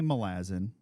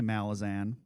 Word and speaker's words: Malazan: So I say Malazan because it's a adjective. The noun is Malaz or Malaz because it's an island in the world. Some people say Malazan. That's fine. I think there aren't 100%